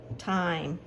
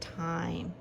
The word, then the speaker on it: time: And I did the same thing with time. I said Tim, and then I realized I had that silent E on the end, which would make it time.